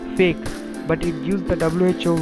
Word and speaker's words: PHEIC: The declaration is often referred to as its initials PHEIC, Public Health Emergency of International Concern, pronounced fake, but it gives the WHO real capabilities to affect the course of an epidemic.